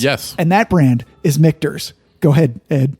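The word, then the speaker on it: Michter's: air time since yes and that brand is mikter's go ahead and say it well it's mikters right but i originally pronounced as mitch nurse that's right and then um i was corrected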